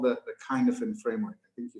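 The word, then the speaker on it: Cynefin: One of the frameworks that I was reminded of when COVID kind of kicked off was something called the Kinefin framework. I think you spell it Kinefin, C-Y-N-E-F-I-N, the Kinefin framework.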